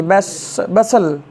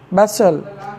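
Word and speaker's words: bustle: सीटी बजाना बी यू एस टी एल ई बसल इसको क्या पढ़ेंगे बसल जिसका मतलब हलचल होता है क्या होता है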